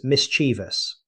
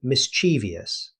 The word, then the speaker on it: mischievous: Mischievous next is mischievous. A very common mistake is saying mischievous. Instead, native speakers say mischievous. Notice there are only three syllables.